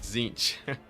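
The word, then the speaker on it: Tzeentch: It's pronounced Zinch. Simple as that. It's not too hard. It's a silent T.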